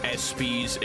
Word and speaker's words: ESPYs: Apparently it's pronounced ESPYs, and also it's for the sports.